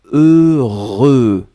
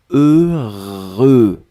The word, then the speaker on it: heureux: deux fois heureux donc ne ne regardez pas le h ne regardait pas le x ne regardait pas le eu juste fermer les yeux visualiser c'est cette combinaison heureux heureux et après vous allez voir c'est assez facile à prononcer deuxième chose concernant ce